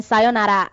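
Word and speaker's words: さようなら: Arigato is thank you, and then sayonara is sayonara. You're supposed to not pronounce the R completely, but sayonara is bye bye.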